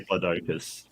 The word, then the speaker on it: Diplodocus: Still say Diplodocus. You still say Diplodocus. On your accent, honestly. Yeah. Americans say Diplodocus. British say Diplodocus.